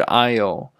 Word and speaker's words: aisle: canned goods, 罐头食品。我们下一个单词。走道 aisle, aisle, aisle, 走道。超市里面有非常多的走道，然后呢找什么东西人家呢都会有 aisle 的，好，就是走道。虽然看这个单词呢拼写的非常的难看，但是呢它的发音就是 aisle, 不是 icely, 是 aisle, aisle。